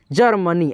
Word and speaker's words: जर्मनी: मिला होता है, लेकिन ये जो रेफ की मात्रा है इसमें अ का ध्वनि हम लोग नहीं मिलाएंगे, आधा र का उच्चारण करेंगे। कैसे, जर्मनी, ऐसे, जर्मनी, जर्मनी।